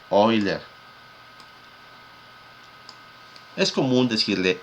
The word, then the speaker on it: Euler: viene el nombre ven y euler que se pronuncia wheeler es común decirle euler no pero ya cuando comienza a producir mejor